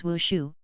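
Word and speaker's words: 武术: TL note, martial arts is pronounced in Chinese as wushu, and dance is also pronounced as wu. Ha ha ha.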